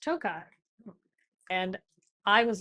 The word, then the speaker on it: Tokaj: I came in and I said something about Tokaj. Oh. And you said, oh, actually, it's pronounced Tokai.